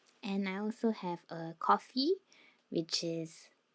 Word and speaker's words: Ko-fi: And I also have a coffee, which is, I used to pronounce it as Ko-Fi, but is a place